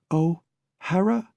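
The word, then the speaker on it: O'Hara: blurted boots rather desperate Ohara she pronounced it like two distinct words he has no seat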